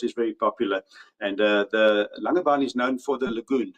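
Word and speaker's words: Langebaan: Yes, very good pronunciation there Ashman. Um, it's a Langaban indeed.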